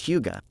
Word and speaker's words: hygge: Simply Hygge, Lifestyle for Beginners. An audiobook by Lina Lykke. What is Hygge? In the spirit of winter, it seems only appropriate to discuss Hygge.